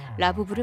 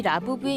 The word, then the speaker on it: Labubu: 아참, 라부부 이름에서 라부는 영어 러브와 발음이 같습니다.